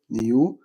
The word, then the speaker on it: knew: أفعال غير منتظمة يشعر felt، يعرف knew. طبعا الكي هنا silent لا تنطق.